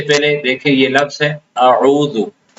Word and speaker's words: اعوذ: عام طور پہ حمزہ کا تلفظ تو صحیح ہوتا ہے جو بھی پڑھتے ہیں عام لوگ. تو اس کے بعد عین کا تلفظ جو کہ عین عربی حروف میں سے ہے اور اس کا تلفظ مشکل ہوتا ہے تو اس میں غلطی ہو جاتی ہے. تو بعض لوگ عین کو واضح نہیں کرتے اعوذ پڑھ لیتے اعوذ.